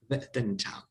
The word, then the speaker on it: Weltanschauung: Maybe you can raise your voice and pronounce it correctly in German. Weltanschauung.